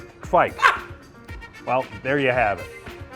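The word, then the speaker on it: kveik: the beer yeast world by storm, and it's pronounced kveist? Kvike.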